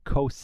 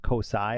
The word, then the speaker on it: Kousei: quickly explain that I was told that I'm mispronouncing some of these character names so I know that is now Kos and not kosai I was saying kosai and that it's kri